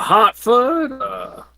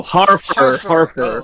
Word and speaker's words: Harfur: you looking for a Hartford wizard wils Hartford what did you say uh did I pronounce his name wrong oh Harford oh okay okay the